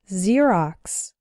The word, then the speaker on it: Xerox: ex-girlfriend ex-husband or ex-wife when X starts a word then it's pronounced like Z there are very few of these words in English but a couple of them are xenophobia xylophone and Xerox xenophobia means fear of